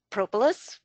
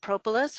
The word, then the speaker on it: propolis: give a talk on propolis you can pronounce it propolis or propolis it doesn't matter but we're gonna talk